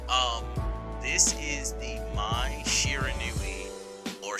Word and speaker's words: Shiranui: for another video um this is the my shiranu or shiranu how you know depending on how you want to pronounce it Gameplay trailer um I am also